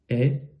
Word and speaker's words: ai: Est ou est, hein, le AI se prononce comme vous le préférez, est ou est, hein, donc un est ouvert ou un est fermé. Ici, assez irrégulier.